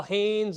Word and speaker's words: Hoehns: Uh, my name is Haynes. It's spelled weird, but it's Hannes.